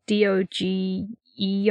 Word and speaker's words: Doge: in venice or something that is not how you pronounce it it's like d-o-g-e or something hold on oh yeah like the doge palace uh no unless you're on google translate doja doges palace yeah it's gorgeous it's